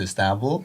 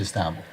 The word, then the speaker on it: Istanbul: I want to move forward to the part you decided to move to Istanbul.